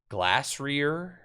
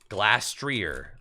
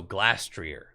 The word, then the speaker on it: Glastrier: Glassrear. How do you say the ice horse? Glastrier. Oh, Glastrier.